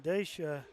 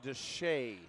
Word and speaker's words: Deshay: Well, Sterling Dacia has Actually, a quick Coach, trigger. I believe it is. Dacia Sherling? No. I believe it's Sterling Deshay.